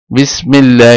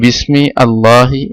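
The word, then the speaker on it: بسم الله: তাহলে বিসমিল্লাহ, এটা আলিফটা এখানে উচ্চারণ হবে না, যে বিসমি আল্লাহি এভাবে উচ্চারিত হবে না।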